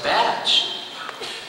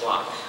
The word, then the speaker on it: Bach: Oh, that's Batch. No, that's Bach. It's Bach. No, that says Batch. It's pronounced Bach.